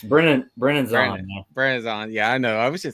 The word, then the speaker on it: Brennan: It's Brennan.